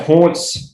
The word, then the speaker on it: Hauntz: But yeah, Hauntz, it sounds the same as Taunts, but it is spelled pretty different.